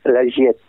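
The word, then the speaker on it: Giettaz: Il faut savoir que les AZ se prononcent E, surtout quand elles sont derrière une double consonne. Comme la Giétase, ça se prononce la Giette.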